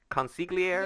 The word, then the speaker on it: consigliere: Actually, that might be consiglia. Consigliere? Yeah. Yeah, you might be right. Yeah, Yeah, that is it. The GLI is Italian. It's a tricky thing to Yeah.